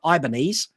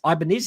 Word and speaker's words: Ibanez: me get this right I used to call it an ibanese but it's Ibanez isn't it I don't know I can't pronounce it at The X Series